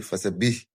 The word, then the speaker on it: فَسَبِّحْ: The ba'un is carrying what? The ba'un has shadda. So we are expected to pronounce it properly by putting a bit force there. Fasabbih. Fasabbih. Some people will just say fasabbih, reading it fastly. No, you need to give the shadda its right.